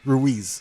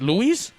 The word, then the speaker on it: Ruiz: I can't pronounce that. God, the whole night. Say Ruiz. Wait, what is it? Ruiz. Wait, Luis?